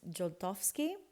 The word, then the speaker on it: Zoltowski: It's spelled Zoltowski, but it's Joltowski, Polish last name.